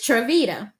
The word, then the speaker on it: Triveda: to pronounce it and the analogy is when I say it's cheesy I really mean it and that is Vita like the cheese t t so it's it's trevita so people once I